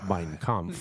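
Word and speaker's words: Mein Kampf: was called my struggle but in German that would be pronounced mine com by the way jeez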